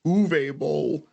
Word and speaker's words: Uwe Boll: Now here's the thing: I want to say his name is actually pronounced Uwe Boll, but it's spelled Uwe Boll.